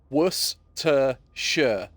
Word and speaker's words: Worcestershire: And the amount of times I have gone on the internet on different things and gone, guys and girls, it's pronounced Worcestershire sauce.